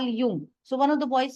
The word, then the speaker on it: Jung: in the class one of the classes call Yung so one of the boys said ma'am you are speaking wrong it is Jung j u n g now that word is